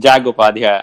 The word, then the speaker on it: Upadhyay: I'm so excited to have as my guest today, Upadhyay, or something close to that. How do you say it? Yeah, it's Upadhyay. I think you got it right.